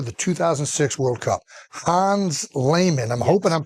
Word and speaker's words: Lehmann: Hans Lehmann, I'm hoping I'm pronouncing that No, you got it right.